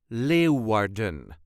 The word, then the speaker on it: Leeuwarden: us duchies say Leen Le warden so there is a very light emphasis on the first syllable Le Warden Le all